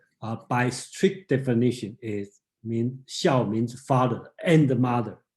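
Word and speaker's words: 小: Okay, xiao and xiao, okay, that's a different tone. Okay, so xiao means small.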